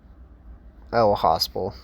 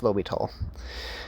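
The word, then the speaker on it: L'Hôpital: his name right but Lobby tall there it is lby I don't know why I always like to call it oh hosal but it's lital so we have x^2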